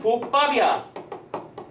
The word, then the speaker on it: 국밥: 자, 국밥이 있어요. 발음은 국밥이야. 그러면 이걸 영어로 표현해서 G-U-K, P-P-A-P 이렇게 쓰지 않습니다.